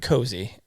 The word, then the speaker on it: koozie: that holds your beer koozie but I've also heard cozy beer koozie beer cozy